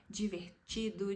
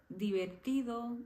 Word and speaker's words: divertido: essa letra por exemplo no português quando a letra D tá por exemplo com a letra i a gente acaba falando de né divertido diferente dicionário então em espanhol isso nunca vai acontecer sempre vai ser divertido diferente dicionário Então sempre